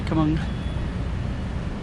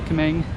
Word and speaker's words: Kemang: So okay, so I'm going to be going into this Grand Kemang, as the locals say, Kemang. Americans say Kemang.